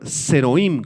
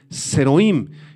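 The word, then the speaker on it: זרעים: hebreo es la palabra zeroim con z y acento en la i zeroim y en el original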